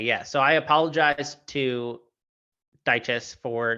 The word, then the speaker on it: Dyches: Is that how you pronounce it? Dyches. Okay, because I have been saying it wrong the whole time then, so I apologize.